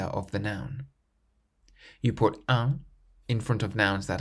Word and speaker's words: un: In the pronunciation of the word un, there is a nasal sound at the end, un.